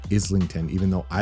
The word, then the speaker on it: Islington: think it's actually pronounced Islington even though I like saying isington I think it's Islington it's British I don't know anyway I'm